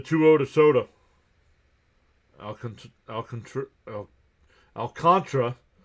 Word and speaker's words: Alcantara: Al Alcantr- Al- Alcantra. It's spelled Alcantara, but they they pronounce it Al- cantra.